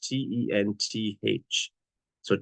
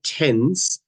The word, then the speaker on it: tenths: spelled with a TH, T-E-N-T-H. So tenths. So it's not like tens, it's tenths. It's got a TH in it because that's our fraction.